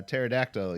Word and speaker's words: pterodactyl: from day one uh why can't you hear a uh pterodactyl use the bathroom because the p is silent yeah you knew that